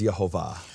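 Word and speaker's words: יהוה: And it's definitive that the Jewish sources say the name of the Father, according to its true pronunciation, is Yehovah.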